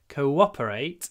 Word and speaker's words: cooperate: And we can even make the w a bit longer. Cooperate.